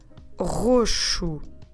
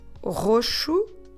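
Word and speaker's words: roxo: you today for purple we say roshu we start with r so let me spell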